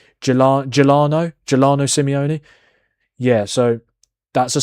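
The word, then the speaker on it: Giuliano: Gelano Simeone.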